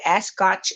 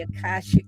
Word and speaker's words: Akashic: We talked about the Ascotch, or I say it wrong all the time, but the Ascotch record. Who know how to say that? Akashic Library.